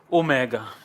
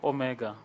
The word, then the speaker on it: Omega: Omega ok Omega Omega if we have an Omicron this is a short o of Omicron and this is a long oh ooh Omega it's it's long and round but then the Omicron is short and close Omicron o and then